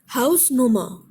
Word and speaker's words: Hausnummer: Hausnummer. Second category. There are three syllables, stress is on house.